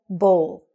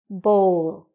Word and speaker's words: bowl: The line I've written on top of the O shows it's a long sound, okay? So say it after me. Bowl.